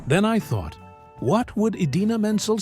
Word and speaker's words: Idina Menzel: It Go from Frozen, Travolta mispronounced her name in a way that immediately went viral. Instead of saying Idina Menzel, he announced her as Adele Dazeem.